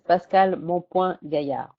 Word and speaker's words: Pascale Mompoint-Gaillard: My name is Pascale Mompoint-Gaillard.